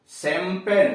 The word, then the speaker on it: champagne: जैसे सग्रीन है CHAGRIN चिड़, सेज है CHAISE हल्की घोड़ा गाड़ी, या शैंपेन CHAMPAGNE अथवा CACHE आदि। अब आइए डी का उच्चारण।